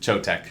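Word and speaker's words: Choetech: pronounce that one no I think it's just choke tech CH o e te CH on Amazon it's like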